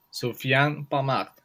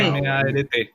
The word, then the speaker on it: Sofiane Pamart: No, pero esa tal cual la pronunciación. Sofiane Pamart. Sí, Pamart.